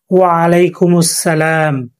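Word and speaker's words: وعليكم السلام: আপনারা আমার সাথে বলেন, ওয়ালাইকুমুস সালাম। ওয়ালাইকুমুস সালাম শব্দটা মূলত সালাম। আমরা যখন এখানে থামবো তখন উচ্চারিত হবে সালাম।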